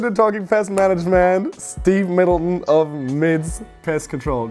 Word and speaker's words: Middleton: Welcome to Talking Pest Management, Steve Middleton of MIDS Pest Control. Did I say that correct, Middleton? Yeah, you did.